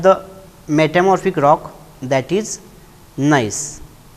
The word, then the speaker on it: gneiss: Now, the next type of the metamorphic rock, that is gneiss. Spelling is different and pronunciation is different.